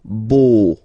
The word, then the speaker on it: beau: So remember this E, A, U combination of vowels only give you the sound O, beau, okay, le beau-père.